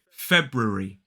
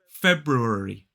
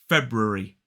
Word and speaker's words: February: word tends to be February February three syllables the stress is on the first and now let's take